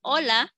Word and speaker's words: hola: be Ola is spelled as hola but we pronounce in Spanish hola that's why que Dia is foreign it's just